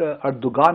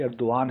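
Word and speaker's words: Erdoğan: अर्दोगान है, वो गाफ जो है ना बीच में वो नहीं है, उसको प्रोनाउंस नहीं करते।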